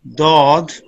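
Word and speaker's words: ضاد: Zod, जी Zod, pronounced as Dod, start using edge of tongue touching gums of upper molars.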